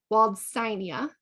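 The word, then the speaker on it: Waldsteinia: arielaria Flava aerial area e i is treated like a long I walled steinia fragarioides and we'll look at that in a second waldsonia that's the important part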